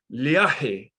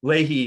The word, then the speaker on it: Leahy: a brit said well actually it should be pronounced liahi so he kind of made a kind of a hybrid name out of it or whatever so but leahy is generally what i go by so well